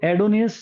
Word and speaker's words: Adonais: तो एडोनियस जो है यहां एडोनियस बोल सकते हो। ए डी ओ एन ए आई एस एडोनिस।